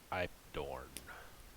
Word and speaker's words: Ipedorn: How would you say that? Ipedorn? Ipdorn? Ipedorn? Yeah. The I've proper dorn. Ipedorn. pronunciation is Ipedorn. But people just call me Ipedorn.